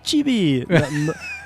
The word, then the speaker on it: Chibi: Muito bem, o Chibi Studio se escreve Chibi, C-H-I-B-I, Chibi, que significa pessoa pequena em japonês.